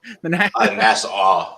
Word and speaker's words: Nassau: Nassau, like you saw. Nassau.